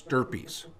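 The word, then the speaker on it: stirpes: those descendants per stirpies now if that's p-e-r sterpies is spelled s-t-i-r-p-e-s it's not herpes it's stirpies okay do you want to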